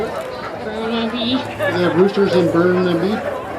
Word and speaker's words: Burnaby: Burnaby.